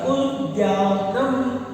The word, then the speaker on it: उद्यानम: उद्यानम उद्यान उद्यानम इसका यह उच्चारण होता है उद्यानम।